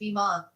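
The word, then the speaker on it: bimah: This area is known as the bima, pronounced bima.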